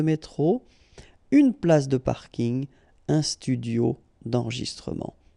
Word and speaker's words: parking: from English but still you should pronounce it the French Way parking in plus the packing